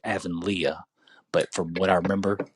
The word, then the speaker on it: Avonlea: like but yeah I would probably say like Evan Leah but from what I remember Disney Channel they would always say Avonlea so I've never watched yeah I know that